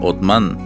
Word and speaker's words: Osman: La dinastía Osmanlí, de donde proviene la palabra otomano, que sería gracias a la pronunciación de Osman, que en turco se pronuncia Otman, duraría desde el año